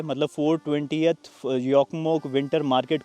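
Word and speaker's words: Jokkmokk: वैसे जोकमोक लिखते हैं, लेकिन इनकी भाषा में जे को प्रोनाउंस नहीं किया जाता, जे को ये य कह के प्रोनाउंस करते हैं, तो इसको बोला जाता है योकमोक।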